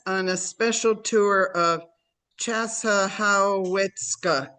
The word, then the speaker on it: Chassahowitzka: He will take us on a special tour of Chassahowitzka. Did I pronounce that correctly? Yeah, I just pushed it Chassahowitzka. That's every syllable. Chassahowitzka.